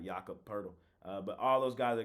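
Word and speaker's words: Jakob Pöltl: leave me alone I finally said it right yakup purle but all those guys are game time decision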